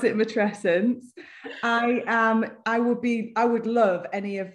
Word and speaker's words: matrescence: I pronounce it matrescence.